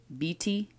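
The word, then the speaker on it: Bwiti: there um how do you say it B BT b-w-i-t-i yeah and so that was kind of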